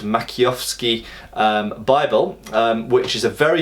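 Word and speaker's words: Maciejowski: And if we look at, for example, here I'm going to try and pronounce it, the Makiowski, or it's spelt Makijowski, but I think it's pronounced Makiowski Bible, which is a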